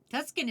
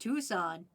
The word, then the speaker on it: Tucson: Tuskin is pronounced Tucson.